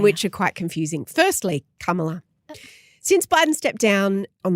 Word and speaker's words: Kamala: of her name cuz the out louers are saying it's comma no it's not it's just not it's Kamala like karma is my boyfriend k right y heavy pronunciation on the first salable okay Cara got it